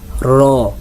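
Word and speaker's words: ر: আমরা যাব র র একটা একটু হালকা শক্ত না একবারে নরমও না মিডিয়াম র উচ্চারণ করার জন্য আপনার উপরে দুই দাঁতের মাড়ির সঙ্গে আপনার জিহ্বার আগাটা লাগান জিহ্বার আগা আপনার উপরে দুই দাঁতের মাড়ির সঙ্গে লাগান উপরের মাড়ির সঙ্গে আগে বলেন র মুখটা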